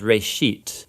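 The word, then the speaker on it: בראשית: Genesis comes from a Hebrew word. Uh it's pronounced reit.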